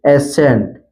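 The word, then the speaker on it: ascent: जब भी किसी वर्ड में यस के बाद अगर सी आता है तो वहां पर सी साइलेंट रहता है। जैसे जैसे एसेंट, एसेंट में आप देख सकते हैं यहाँ पर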